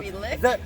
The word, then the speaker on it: Angus: Angus The G is silent in my name.